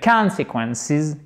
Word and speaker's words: consequences: Solution and the consequences. Consequences. Accent tonique ici et voyelle longue. Consequences, ok?